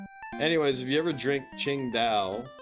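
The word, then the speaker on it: Tsingtao: Chingda, which is uh spelled singo, but it's pronounced Chingda, which is the name of the place where it's brewed in. Anyways, if you ever drink Ching Dao, it's actually pretty good.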